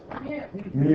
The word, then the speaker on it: mu: is the Greek letter Mew me it's like a u it's kind of got a tail up in the front um I'm told that in Greece it's pronounced me although I did go